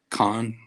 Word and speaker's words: Kahan: what's his name, Noah Khan. Have you heard of him at all? I haven't. Yeah, it's his last name is spelled Kahan.